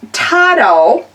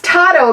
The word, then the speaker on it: TODO: So, it's pronounced tau. And I didn't know, it looks like to-do to me, but it's pronounced tau because it's a Spanish word for meaning everything.